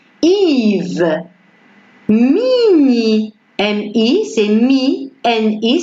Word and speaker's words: Yves: Alors, elle s'écrit ici avec le Y, mais ça prononce I. On ne dit pas IE, mais c'est I. Yves.